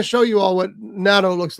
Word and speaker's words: natto: Okay, I'm going to show you all what natto looks like too. By the way, and is that the right way to pronounce it?